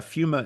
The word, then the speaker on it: Pneuma: on you and uh fuma is spelled p hu M A so um I was always like fuma f fum no no do not do that folks do not do